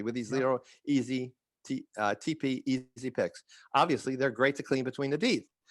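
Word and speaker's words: TePe: gum tissue at all but it's called a tp easy pick it's spelled t-e-p-e easy it's easily available on amazon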